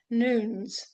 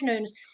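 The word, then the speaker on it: Newnes: Well, it's this gentleman, the publisher, Sir George Nunes, and I'm told that's how you pronounce his name. Sir George Nunes. Sir George Nunes, his family were his father was a congregational minister.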